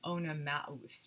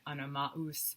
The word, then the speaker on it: Oenomaus: Hippodamia is the daughter of a guy named King Oenomaus. Maus is how you would pronounce that, with that umlaut.